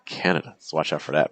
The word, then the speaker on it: Canada: So it's not Canada, Canada, Canada, not the pattern. Or Canada. No, it's Canada.